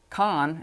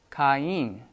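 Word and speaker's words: Κάϊν: That means you pronounce the vowels separately. So instead of Khan, it's Kain for Cain, as this example shows.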